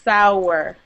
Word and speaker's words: sour: Sour versus sore or sore like that. Sore. Yeah. Little pronunciation difference.